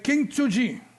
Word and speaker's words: Kintsugi: du monde, là, le Kintsugi. Non, pas King, c'est même pas un G, c'est un T. K-I-N-T, Kint.